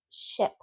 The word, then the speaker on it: ship: So when you have the short I, think of a sick puppy. No smiling. So ship.